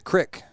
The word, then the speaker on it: creek: creek as well whereas my Grandpa would say the Crick even though it's spelled c-r-e-e-k Creek he also called it